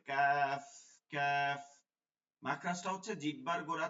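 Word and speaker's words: ك: প্রয়োজন দরকার নেই এজন্য উচ্চারণটা হবে পাতলা করে কাফ কাফ মাখরাজটা হচ্ছে জিহ্বার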